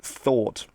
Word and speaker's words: thought: was giving earlier uh thought du in Dutch in English it's spelled with a GH but you don't pronounce the GH at all that's just gone silent